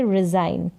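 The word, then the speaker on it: resign: रिजाइन क्या बोलेंगे रिजाइन तो यहां पर री और साइन करके ऐसे पढ़ दे रिजाइन रिजाइन इसका उच्चारण है तो इस तरीके से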